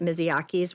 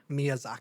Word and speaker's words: Miyazaki: a big theme in uh in is it Mizyaki's work? Miyazaki.